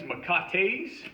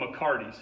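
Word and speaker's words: mecate: for your McCarty's and you can call these macaques which I guess is the proper way to say it or you can Americanize it and call it McCarty's I just call it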